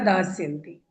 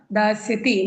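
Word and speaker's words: दास्यति: मेरे उच्चारण से समझिएगा दासति में कौन सा स होगा आधा सट वाला स नो नो नो नो दादा मैं दासति बोल रही हूं दासति दासति दासति दास वाला सड़क वाला सड़क वाला ठीक है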